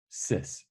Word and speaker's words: cis: We're calling cis.